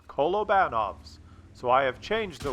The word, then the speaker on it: Kolobanov: versus five and I used to call it Columbo knobs metal but a really nice subscriber from Russia pointed out that is actually pronounced kolobanov's so I have changed the way I pronounce